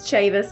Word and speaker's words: Chavis: right ever um so it's Chavis like Davis I like to tell